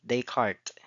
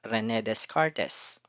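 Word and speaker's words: Descartes: This is pronounced as Rene Decart, not Rened Cartes.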